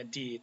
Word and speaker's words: die: Lalu jenis kelamin, kata benda yang punya jenis kelamin perempuan atau disebut feminin istilahnya, itu ditandai dengan artikel di, cara bacanya di itu ya.